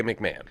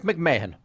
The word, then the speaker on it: McMahon: right and uh but here we would say McMahon what what did you would say here in in America we would say Patrick Pat McMahon so you'd pronounce my name wrong because it's Patrick McMahan that's the name and you can you